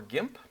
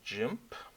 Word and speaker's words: GIMP: In this case, the GNU Image Manipulation Program, or GIMP. Or if you like you're pronouncing your G's differently, I guess you could do jimp.